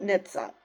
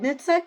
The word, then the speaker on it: NHTSA: firefighters um you know I'm pretty sure you pronounce it Nitsa so Nitsa said in